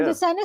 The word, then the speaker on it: Lucena: How do you pronounce that? Lucena.